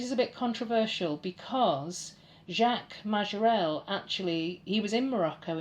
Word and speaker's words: Jacques Majorelle: This is a French artist, and if I was being very British I would say Jacques Majorelle, but I'm going to try and pronounce this in a French accent. Jacques Majorelle.